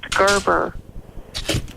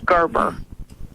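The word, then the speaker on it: gerbera: say it Gerber R just like Gerber babies it's pronounced Gerber they got a phonetic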